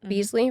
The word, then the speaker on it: Beasley: I mean, um, Malik Beasley, Beasley, right?